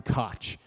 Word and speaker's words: Koch: And punter, Sam Koch. Though I know some people who have that name prefer it to be pronounced Coke, though I'm not 100% sure.